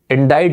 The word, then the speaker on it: indict: more than five seconds indict or indict the pronunciation is indicted implicate elude charge manifest